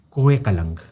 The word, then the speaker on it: Koh Kalang: That is Koh Kalang. Koh Kalang is this mountain extension of Natanz. Koh Kalang. How do you spell that? Kuh, Ku, as in Kohinoor, Mountain of Light, Ku, mountain.